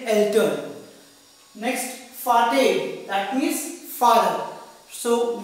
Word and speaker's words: Vater: Next, Vater, that means father. So we pronounced V as F in German language, that's why we say Vater for father.